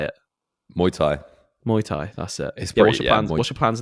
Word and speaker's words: Muay Thai: now I know you're getting some like my Muay Thai how do you say it Muay Thai Muay Thai that's it what's your plans now mate let